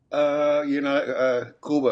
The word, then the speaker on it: Cuba: Cuba is the proper way to pronounce it, by the way.